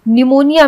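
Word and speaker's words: pneumonia: के साइलेंट होता है निमोनिया में पी साइलेंट होता है निमोनिया अधिकतर लोग सोचते हैं कि निमोनिया एन से होता है एन ई यू एम ओ एन आई ए निमोनिया होता है लेकिन निमोनिया पी से स्टार्ट होता है तो पी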